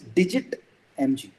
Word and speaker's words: DigiTMG: And it is digit mg. That's how we pronounce it.